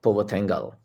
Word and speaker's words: Puvathingal: So I'm here with Puvathingal. I think I got the pronunciation right, You got it.